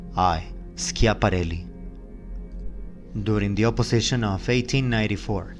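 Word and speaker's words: Schiaparelli: must have been getting ready by the way is spelled as this s c h i b a r e l l i scia parelli during the opposition of 1894 a green great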